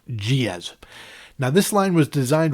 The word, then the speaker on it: Giez: The pronunciation was always confusing for a lot of people, but I was told and confirmed it was pronounced Giez.